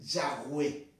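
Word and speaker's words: Yahvé: y h w h dándonos la pronunciación más acertado más cercana según muchos que es la traducción de yagüe que sería la más acertada acertada en el hebreo o en los originales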